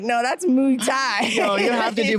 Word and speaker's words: Muay Thai: Am I saying it wrong? How do you say it? Muay Thai. Muay Thai.